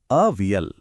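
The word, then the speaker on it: അവിയൽ: इसका सही उच्चारण है अवियल।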